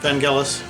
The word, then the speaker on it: Vangelis: what I have here Ben Jealous pop with an SEO or Vangelis he's the proper pronunciation we're not saying it